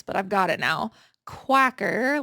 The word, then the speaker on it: Quacker: Quacker, like a duck, factory women's cardigan.